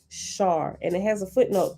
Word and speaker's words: Sar: called a sar pronounced shar and it has a footnote 37 for um shar the s in such translations as sar samus and ishtar is pronounced sh sh in transliterations making the words shar